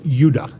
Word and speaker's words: Judah: called benjamin and judah more properly pronounced yudah because we didn't get the harder sound to the j until about 200 years ago so this is what